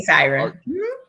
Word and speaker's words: Syren: Is that how you pronounce it? Lady Syren.